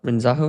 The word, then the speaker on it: Renzaho: this relationship with Colonel renzaho renzaho is how you say his name and that profoundly shifted